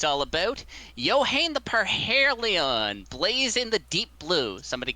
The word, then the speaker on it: Yohane the Parhelion: Yeah, it's Yohane the Parhelion, by the way.